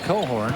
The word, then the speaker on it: Cochran: His name looks like Cochran, pronounced Cohorn.